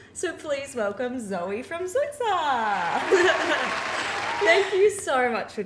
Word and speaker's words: Zoitza: Yeah, I always pronounce it wrong. I do apologize. You're not the only one. Everyone does. Zoiitsa.